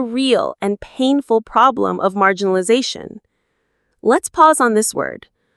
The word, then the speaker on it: marginalization: and painful problem of marginalization. Let's pause on this word marginalization. Mar jin na la l z shun. Marginalization. Another long one. The main stress is on that zah syllable near the end.